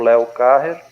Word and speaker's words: Léo Carrer: Nós tivemos o prazer hoje de ter aqui conosco o professor Léo Carrer, né? É assim que pronuncia?